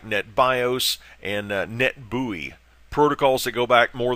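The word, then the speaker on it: NetBEUI: call net Bowie net NE TBE you I net buoy is the way that's pronounced just a couple of other references for the session layer things like netbios and net buoy protocols that go back more than a couple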